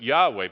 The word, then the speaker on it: Yahweh: world it would be not Jehovah but Yahweh but Yahweh ra is the Lord is my shepherd that's one of the most beloved Old Testament passages and Yahweh yaira or Jehovah Jireh which no one in the Bible would have ever said but it's okay to say it but Yahweh yaira all the J's are wise if you want to really